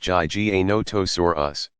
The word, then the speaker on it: Giganotosaurus: have terrorized the planet Giganotosaurus pronounced GG a notice or us was slightly longer at